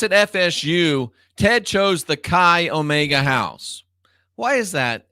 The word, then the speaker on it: chai: eight one eight and i don't know if you pronounce this kai or chai i think it's kai c-h-a-i it's a jewish symbol associated with 18.